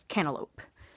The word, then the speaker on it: cantaloupe: the t's is demonstrated in cantaloupe where there is no tea at all there's no guttural stop and it's not pronounced as a D it's like the tea is not there it's cantaloupe and then lastly what